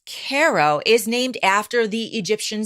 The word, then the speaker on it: Cairo: Okay, I've been saying Cairo. It looks like Cairo. It's Cairo, but it's pronounced Cairo, is named after the Egyptian city.